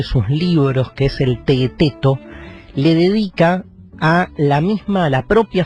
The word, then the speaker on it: Teeteto: Porque en ese diálogo está Sócrates charlando ahí con sus discípulos, y medio Teeteto, se escribe T-E-E-T-E-T-O, Teeteto, y como que le preguntan a Sócrates: maestro, ¿nos explica qué es la filosofía?